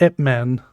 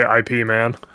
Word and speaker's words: Ip Man: For my second pick, I am going to go with Ip Man. Is it actually pronounced Ip Man? Yeah. Yes. I've always heard people say IP Man. It's Ip Man.